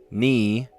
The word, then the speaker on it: knee: Psych, mnemonic, knee, and gnome. Sounds the same if you drop the first letter.